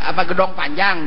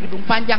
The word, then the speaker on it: Gedong Panjang: Ini misalnya gedong panjang di kota, ya gedong panjang, jangan jadi gedung panjang lain.